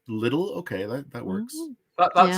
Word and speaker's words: Lidl: I know I always I always thought it was pronounced Lidle but little okay that that works